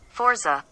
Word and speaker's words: Forza: Forza. That's the proper way to say it. Forza. That's the American way. Forza, there's no T in Forza, so why would you get the...